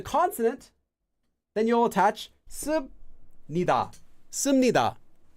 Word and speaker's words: 습니다: And if it ends with a consonant, then you'll attach 습니다, 씁니다. So 습니다, pronounced as 씀 with this letter, 미음, 씁니다, due to sound change rules.